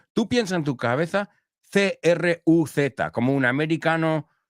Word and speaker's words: Cruz: Es como, tú piensas en tu cabeza C-R-U-Z, como un americano pronunciaría Tom Cruise. O sea, para nosotros, Penelope Cruz and Tom Cruise se pronuncian igual.